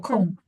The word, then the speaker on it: অসম: The pronunciation is hard. Akom, Pro- akom.